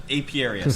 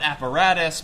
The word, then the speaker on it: apiarius: Absolutely no one can pronounce the word apiarius. I almost called it asparagus. He was actually the guy. I know a friend. Right. Air quotes. But people call it apparatus. People call it asparagus.